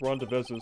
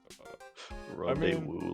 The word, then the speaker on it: rendezvous: I think it's pronounced Rondevezes, but to the I thought it was mysterious... pronounced Rendezvous. Rendezvous, like the golden woo.